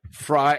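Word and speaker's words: Frey: Tyler McIlvain sent me a bottle of, I think I'm saying it right, Fry, F-R-E-Y, like Glenn Fry from the Eagles, Fry Ranch Quad Malt Bourbon Whiskey.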